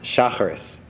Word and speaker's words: Shacharit: Shacharit, also pronounced Shacharis, the daily morning prayers.